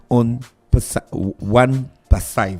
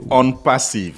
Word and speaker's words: OnPassive: Ils viennent nous présenter la compagnie One Passive. C'est ça, monsieur Fernand, j'ai bien prononcé? Bonjour. Pas parfaitement, c'est On Passive.